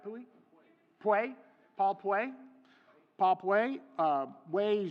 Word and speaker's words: Puey: Puey.